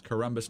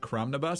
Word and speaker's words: Corombos: pronounce my name again it's corbus not cromnibus so don't blame me